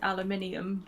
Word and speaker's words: aluminium: One of the lyrics is, I pronounce it aluminium because there's an I next to the U and M.